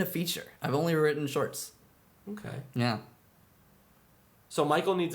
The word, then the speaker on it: Schwarcz: German it's a well it's the Hungarian spelling of the German name Schwartz because it's still it's not pronounced schwarks it's pronounced shorts total USC explanation right